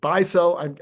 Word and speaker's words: Beisel: And then I guess he pronounces it Beisel. I keep getting it slightly wrong.